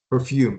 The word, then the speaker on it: perfume: We're going to stress the second syllable. Perfume.